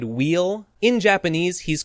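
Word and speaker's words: Weil: English to this but I think it's supposed to be German so the W should be pronounced like a V so I think maybe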